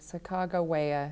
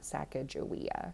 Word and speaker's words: Sacagawea: official statement saying that the proper pronunciation of her name is sacagawea so if you look at the slideshow i sent you i tried to write both of those out phonetically okay chicago waya not sacajawea is how i wrote